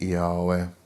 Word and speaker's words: Yahweh: Now when I say Yahweh, it's YHVH. So if you prefer saying YHVH, then that's up to you. I did a video a while back why I pronounce it Yahweh.